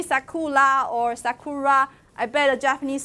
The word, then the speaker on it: sakura: que you are a so most of my American student would pronounce it is yes but when in fact it's more like sekula it's kind of an